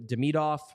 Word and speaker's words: Demidov: he was involved uh Ivan de demidov um because you got to do the the second pronunciation the second syllable pronunciation uh he was talked